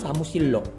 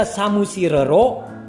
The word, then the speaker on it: 사무실로: Jika samusirero itu tidak mudah pelafalannya, tapi samusillo adalah mudah pelafalannya.